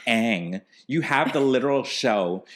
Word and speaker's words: Aang: the one who said they didn't even pronounce his name right girl is pronounced Aang you have the literal